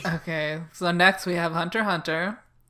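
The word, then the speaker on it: Hunter × Hunter: so next we have hunter hunter it's not the ex is not pronounced okay there's a [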